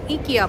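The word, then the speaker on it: IKEA: এখানে ইকিয়া বলে, কারণ এখানে এর উচ্চারণ হচ্ছে, সরি ভুল বলেছি, এর উচ্চারণ হচ্ছে এখানে ইয়ে। সো এখানে হচ্ছে ইকিয়া।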